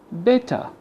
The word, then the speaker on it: better: And also better. The British people say better, okay, and the Americans say better. But we don't care about the American pronunciation right now, so just listen to the British one. Better. So the ER replaced with a schwa sound. Better.